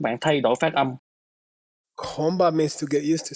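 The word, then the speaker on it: གོམས་པ: And it's pronounced Komba.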